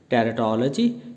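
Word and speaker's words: teratology: तो यहाँ पर हम जो इस ब्रांच सेकंड जिसको हम प्रोनाउंस करेंगे टेराटोलॉजी, तो इस टेराटोलॉजी के अंदर हम बर्थ के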